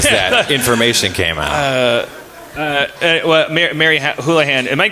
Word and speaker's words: Houlihan: Mary Houlihan. Am I pronouncing that right?